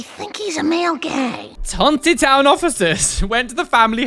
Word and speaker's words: Tontitown: Tontitown. Tontitown, apparently is how you pronounce it.